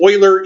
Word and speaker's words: Euler: boiler and it's pronounced oiler even though it looks like Euler because it's a German name and in German the EU makes the boy sound so it's perhaps Euler